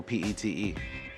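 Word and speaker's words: Pitre: My great-great-great-grandfather, his name was Leandre Petrie, but it's pronounced Pete.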